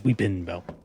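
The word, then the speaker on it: Weepinbell: It's spelled wrong. It's Weeping Bell. But the Pokemon is Weepin Bell.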